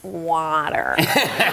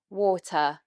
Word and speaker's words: water: And then in the second part of this word, we have the schwa sound, water, water. Schwa sound is the mouth in neutral position. So it's literally the sound our mouth makes when it is relaxed. Water, teacher, about. You can hear the sound is about, computer. Can I have a glass of water, please?